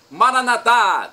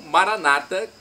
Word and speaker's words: Maranatá: Jesus, para o português: Maranatá, vinde Senhor Jesus. Ou Maranata, com a tônica na penúltima sílaba, como dizem nossos irmãos separados, os evangélicos ou protestantes. Não importa a pronúncia, o significado é o mesmo.